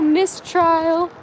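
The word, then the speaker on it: Misstrial: And then little Mistrial. They just named her. Yeah, Mistrial. But it's spelled like M-I-S-S, like Miss.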